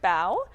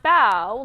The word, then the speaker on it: Bow: It's called Amy Wu and the Perfect Bow by Kat Zhang and illustrated by Charlene Chua. And it's published by Aladdin Books. So it's pronounced bow, like bowing, not like bow.